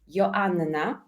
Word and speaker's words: Joanna: well to be honest so I'm polish and in our language double n is pronounced so if you want to be uh fully aligned my name in the Polish language is Yanna so you can hear this double n and my second name should be pronounced so your Anna